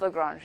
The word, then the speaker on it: Lagrange: It's Lagrange, yeah.